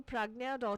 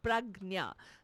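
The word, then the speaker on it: Pragnya: do go ahead to pragna org and then we can connect you with the right resources again PR AG nya pragna the way it is spoken that's the way it is spelt pragna dot org all right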